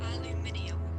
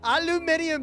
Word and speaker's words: aluminium: Aluminium. Aluminium sounds like a space age material.